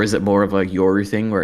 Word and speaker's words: Yoru: So maybe she knows that Euro doesn't want to do it. Did I say it right, EliteAri? No, Yoru.